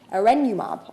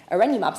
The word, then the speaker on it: Erenumab: Take one CGRP blocker, I always pronounce this one wrong, Erenumab, I believe is correct, as an example.